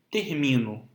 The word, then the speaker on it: termino: As palavras paroxítonas são aquelas que possuem como sílaba tônica a penúltima, como em termino.